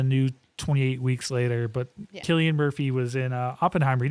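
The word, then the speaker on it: Cillian: She really likes Sillian Murphy or Killian. Killian Murphy like the beer. I know. I keep messing with you. I know you do. It's spelled with a C, not a Kayla. Killian though.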